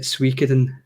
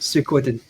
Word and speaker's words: Suikoden: about google translate a lot of westerners will pronounce it suiciding because they'll go into google translate and they'll